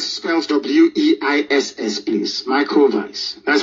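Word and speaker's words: Weiss: his name is microphones Vice spells w-e-i-s-s please micro Vice that's how you pronounce it because of this man in Germanic language W is pronounced as V like the Volkswagen um that's what it's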